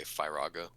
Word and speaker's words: Firaga: I mean, looking at how it's spelled, you might go Firaga, but I think it rolls off the tongue when you, in the context of the other modes, Fire, Fyra, Fyraga, that sequentially, to me, it makes more sense.